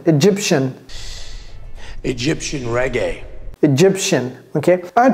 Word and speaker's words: Egyptian: Vous voyez comment j'ai prononcé ça? Shin. Egyptian.